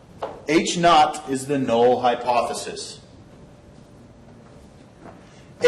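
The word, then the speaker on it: H₀: notation that's used the H Subzero which is pronounced H not H not is the null hypothesis ha is the alternative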